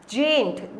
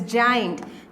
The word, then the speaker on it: giant: Strange, quit, sprain, जेंट. इट्स नॉट जेंट, इट्स जाइंट. GIANT.